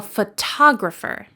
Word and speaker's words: photographer: But the job of a person who takes photographs professionally is a photographer. The second syllable is stressed.